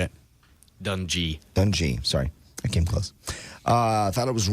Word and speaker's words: Dungy: Dungy, sorry.